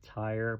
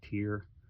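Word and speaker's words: Tyr: Some people call it tire, but I think it's pronounced tier.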